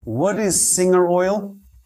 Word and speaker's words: Singer: And just to clarify once and for all, this is singer oil. And yes, it's pronounced like the English word singer, not with a Portuguese style pronunciation.